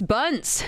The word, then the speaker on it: Buns: Bryce Buns. I'm pronouncing your last name correct as well, right?